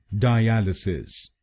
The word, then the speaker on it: dialysis: और ये ध्यान में रखिए कि हमको दूसरे शब्दांश पर यानी AL पर जोर डालना है। डायलिसिस, डायलिसिस। गलत प्रोनाउंसिएशन में हम पहले शब्दांश पर यानी DI पर जोर डालते हैं, डायलिसिस।